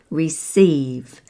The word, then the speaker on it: receive: And then there's the general guideline that verbs and prepositions have the stress on the second syllable. Verbs we've used before here, like receive, receive, and insist, insist, or define, define.